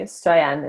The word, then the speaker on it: Stoian: Yeah, so my name is Julie Stoian. It's Romanian.